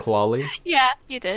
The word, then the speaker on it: Klali: Did I pronounce it right? Klali? Yeah, you did. Klali, yeah.